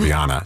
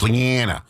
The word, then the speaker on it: Leannah: I said Leannah. She goes, no, it's Leannah. Like you're living in Maine. You know, Leannah, pack the cat, Leannah.